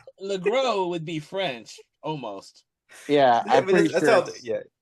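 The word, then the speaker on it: LeGros: Lro is how it's they pronounce it on the commentary. I've always thought it was Lross because it ends with an S, but you know, you know what American language is?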